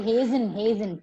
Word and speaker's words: hasten: Okay, hasten. T is silent here.